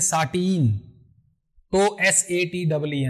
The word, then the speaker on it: sateen: तो जब हम साटिन ऐसे बोलेंगे तो SATIN, और जब बोलेंगे साटिन तो SATEEN, मतलब वेफ्ट फेस वीव को हम बोल रहे हैं।